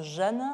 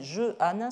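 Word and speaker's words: Jehanne: n avais un hs je le prononce jeanne ce qui me pose un très gros problème parce que récemment gelé vu joué par d c'était très intéressant ça fait une adaptation au théâtre mais eux le prononcer jehannin ce qui fait une syllabe de plus et qui change tout le nombre de pieds des phrases et qui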